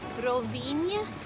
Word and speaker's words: Rovinj: Rovinj and Rovinjo, it's the same ñ sound, that ñ, like the word onion in English. So if you can say onion, you can say the name of this town.